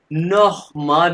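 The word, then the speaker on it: noch mal: और ये जो वर्ड है ये है नोह माल, मैंने बताया था सी है जहां भी आएगा ये खे की आवाज है। नोह माल अगेन, नोह माल अगेन।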